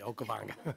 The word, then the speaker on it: Okavango: to continue to migrate along the I cannot pronounce the name of that river for the life of me. Okavango. Thank you, Okavango.